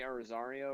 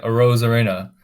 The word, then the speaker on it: Arozarena: What makes it even more scarier is that Randy Rosario, or however you pronounce his last name, I think I got it right. Ozario. Oh, like Arozarena.